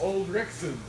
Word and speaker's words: Ulrichson: So, Wade Ulrichson is pronounced Ulrichson. Ulrichson. Son.